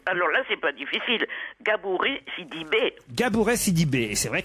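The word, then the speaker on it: Gabourey Sidibe: Gabouré, Sidibé.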